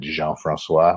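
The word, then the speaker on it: Jean-François: My mom pronounces it Jean Francois, but I say Jean.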